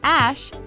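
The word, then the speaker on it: Æ: stands for unknown variables the ae which is pronounced ash is according to grimes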